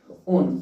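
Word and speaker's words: -one: लगा देते हैं ओन ओन ओ एन ई ही लगाते हैं ये वन नहीं होता ये ऑन पढ़ा जाता है यहां पर ओनई ओन हो जाता है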